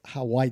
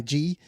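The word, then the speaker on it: hawaij: It looks like Hawaii, but it's not, it's Hawaii. Hawaji. Correct.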